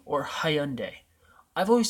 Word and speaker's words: Hyundai: I should do the Hyundai Genesis. How do you pronounce that? Hyundai or Hyundai? I've always said it Hyundai.